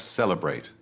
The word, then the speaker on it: celebrate: Then we have celebrate. Stress the first syllable. Celebrate.